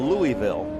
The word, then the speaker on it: Louisville: But Rob is from what I call Louisville, but if you're from Louisville, you call it Lowell. Louisville. You make 3 syllables, Louisville.